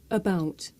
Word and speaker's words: about: Now you also get this sound in many words of more than one syllable. Listen. About, common, standard, butter.